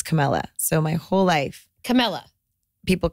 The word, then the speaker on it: Camella: show on that okay we totally didn't introduce camela she's like okay oh my God go go go camela is with us so here people want to call you Kamala all the time Nowa it's kind of a